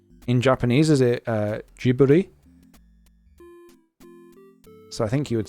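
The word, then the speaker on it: Ghibli: Japanese is it uh jiburi so I think you would say jibi right they say it like gber okay yeah so yeah so I think you would say it with a soft G then so so no Tik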